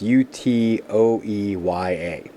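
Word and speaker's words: Utøya: And this is on Utoya Island, which I'm probably pronouncing wrong. But whatever. I'm doing the best I can. But Utoya Island, it's Utoeya. So, Utoya Island pokes out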